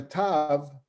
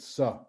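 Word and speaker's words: ת: you have a tav, which is the last letter which we all pronounce ta, like a T. If it has a dot in it, it's a hard T. If it doesn't have a dot inside of it, then originally it was, in Yemenites pronounce it tha, which is similar to other Semitic, like Arabic as well. There's a tha, and Ashkenazim pronounce it sa.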